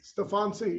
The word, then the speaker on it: Steffanci: yeah what were you seeing yeah that's right stefan c yeah i was staying right when my grandfather